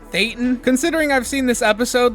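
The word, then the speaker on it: thetan: So just for clarity, it's actually pronounced theatan considering I've seen this episode like 30 times. I just pronounce it theaton because South Park does.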